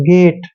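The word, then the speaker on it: gate: बाद आता है तो जी को ग पढ़ते हैं और एटी को एट पढ़ते हैं गेट अब देखि एच को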